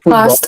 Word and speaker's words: post: all football post office So, post office. O S T, même si les finissent ST, sont ça sont exception. We say most, post, ghost, host.